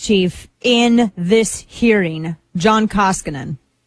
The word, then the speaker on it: Koskinen: That's just John Kosikinen. I can't pronounce his last name. I'm not going to pretend to. He's the IRS chief. I don't feel like learning how to pronounce his name because I don't like him. It's Koskinen.